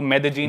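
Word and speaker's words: Medellín: Spelling में उसमें double L आता है, मेदेलीन होता है, लेकिन कोलंबियन स्पेनिश में ल को ज बोलते हैं, तो मेदेजीन।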